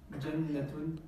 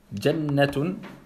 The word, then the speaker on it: jannatun: Jannatun. Ahsant. Tu vois, t'as pas dit jannatun. Jannatun. Là, on comprend bien qu'une shedda, on double la lettre, on ne la prononce pas.